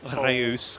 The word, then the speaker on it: Reus: Uh Harry H has restarted the how do you pronounce Reus? Royce? Rayus? Uh r e u s debate I prefer Rayus cuz I like rolling the r on it, but I think we'd said it was Royce.